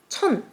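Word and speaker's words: 천: And thousand, chun.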